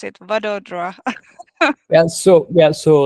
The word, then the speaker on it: Vadodara: How do you pronounce it? Vadodara.